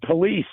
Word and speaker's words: police: You always mispronounce the word police, dude. Two syllables, not one. Police. It has two syllables, not one.